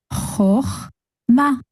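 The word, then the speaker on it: חָכְמָה: ririwe o, koe a, Cho, and the chaf with the silent shva will just be ch. So together they will make choch. And the last syllable here is ma. Altogether we have choch ma, chochma, which means wisdom.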